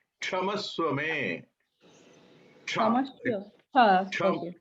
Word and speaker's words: क्षमस्व मे: It's not Shamaswame. Kshamaswame.